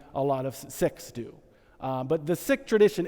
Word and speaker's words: Sikh: Sikh. Sorry. Yes, sorry. Sikh. I just was involved. Sikh, yes, he's Sikh, and actually it's the preferred pronunciation is Sikh, but it sounds like sick, so we say Sikh.